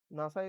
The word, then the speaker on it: NASA: A word formed with the initial letters of the words pronounced at a word is acron. NASA is a famous acronym for the National Aeronautics and Space Administration.